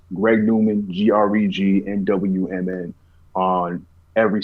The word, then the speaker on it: GREGNWMN: n w m n greg newman is the way that's pronounced um one word greg newman um really everywhere you